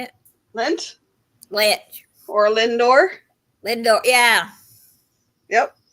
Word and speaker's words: Lindor: Lindstrom how you say it lint ly or Lindor Lindor yeah yep L I kept buying these